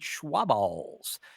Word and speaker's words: Schwaba: he said Schwaballs too, which is apparently the new way to pronounce my last name, which is fine with me. That's amazing. Now, my question is, you have said that, or it has been said by a listener, that you must have a wet mouth to correctly pronounce Schwaba.